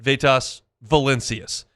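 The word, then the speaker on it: Vytas Valincius: His brother, Vitas Valencius, pronounces it Vitas Valencius.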